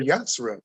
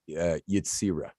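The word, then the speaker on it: Yetzirah: So I picked up the Sefer Yatzra. And it's funny how you were talking about these numbers. Let me help you with the pronunciation. It's Yitzira. Sefer Yitzira. Yitzira, perfect.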